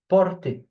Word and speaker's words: porter: Okay, porter, porter. You remember that when a verb, when it's a verb and it ends with er, it's pronounced e. Okay, the er, porter.